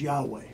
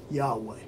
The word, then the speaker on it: Yahweh: 586 BC before Christ this name was regularly pronounced with its proper vowels as Yahweh he was on to